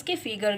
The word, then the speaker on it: calf: बेटा इसमें L silent होता है. ठीक है, इसे कॉफ पढ़ते हैं.